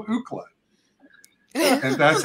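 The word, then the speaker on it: Ookla: In terms of Ukla the Mock, which is spelled O-O-K-L-A on the show, Ukla the Mock,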